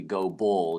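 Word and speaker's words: Gobert: It's It's actually Go Bull. John go Bull. Uh, so I'm mispronouncing his name.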